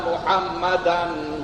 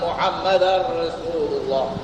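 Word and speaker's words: محمداً رسول الله: allailahaillallah wa Ashadu anna muhammadan Rasulullah tu betul muhammadan an tapi dari segi membacanya orang Arab tidakcakap Begitu orang Arab cakap asadu anna muhammadar rasulullah seb itu datang hukum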